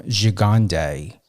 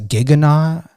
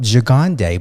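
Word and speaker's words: Gigandet: when I interviewed Cam Gigande, it was pronunciated on some of his interviews as Giganet. I even Googled how to pronunciate his last name. And it came up Gigande, but when I interviewed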